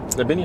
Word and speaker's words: Trebinje: Trebinje, is that how you say it?